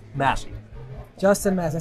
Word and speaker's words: Massey: We're here with Justin Massey, or is it Macy? Massey.